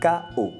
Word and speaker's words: cahot: de mots ici est Chao qui s'écrit cahot ce sont des secousses